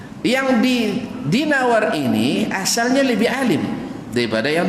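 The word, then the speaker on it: دينوري: jadi jadi Zain Nuri bacanya bukan Zainuri dan bukan dainuri tapi dinawari di Nawari nah seperti yang disebutkan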